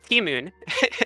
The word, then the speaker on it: Timon: data entry leads, and Timon, the project director, I call him Tim because I don't know how you're supposed to pronounce his username. You just pronounced it correctly. Timoon.